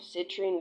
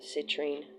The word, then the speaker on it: citrine: The citrine. Citrine. The latrine. Citrine reminds rhymes with latrine.